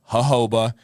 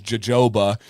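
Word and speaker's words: jojoba: That is how you pronounce it. Hoba. Scuba says jajoba.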